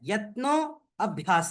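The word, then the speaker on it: यत्नोऽभ्यासः: यहां पे गरिमा बहन या जो कोई भी देख पा रहे है अ शब्द यहां पे साइलेंट है। यत्नो अभ्यास है।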